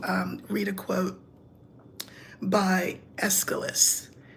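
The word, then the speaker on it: Aeschylus: read a quote by escalus his name is spelled not like you think it's AE c h y l u s and this was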